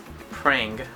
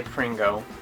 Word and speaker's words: Prang: I will say how do you say his name again? Prang. I was about to say Pringo.